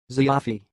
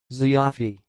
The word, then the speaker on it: Zayyafi: the word you see it sounds like Xavi Xavi so I will repeat again zee avi Xavi that's all thanks for